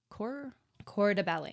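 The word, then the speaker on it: corps de ballet: like that so and they're called the core c de Bal so spelled like c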